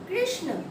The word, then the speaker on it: कृष्ण: सबसे पहला हम शब्द लेते हैं कृष्ण।